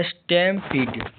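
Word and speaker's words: stampede: डी स्टेमपीट एस्टेम पीट यहां stem का उच्चारण छोटी ए होता है। पी ई डी ई का उच्चारण पी डिलंबी ई होता है।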